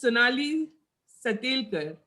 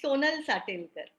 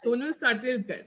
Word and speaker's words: Sonal Satelkar: And then we have Miss Sonali Satelkar. Sonali ji, please correct my pronunciation. It is Sonal Satelkar. So Sonal Satelkar. Sonal Satelkar, yes.